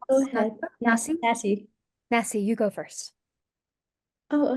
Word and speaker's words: Nasi: Nassi.